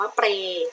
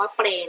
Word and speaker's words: เปรย์: ไป ค่ะ ทำ นี้ นะ คะ 3 ว่า เปรย์ สะกด ว่า ปอ รอ AJ pornjp คำ ว่า เปรย์ นะ คะ เป็น คำ ควบ กล้ำ เพราะ ฉะนั้น